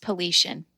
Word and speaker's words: Paulician: It's pronounced Paulician.